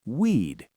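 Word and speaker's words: we'd: We would becomes weed.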